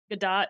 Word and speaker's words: Godot: It's spelled Godot, Godot, and it has a really active community.